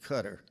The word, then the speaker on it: Qatar: Qatar near Saudi Arabia Bobby pronounced it cutter he had already made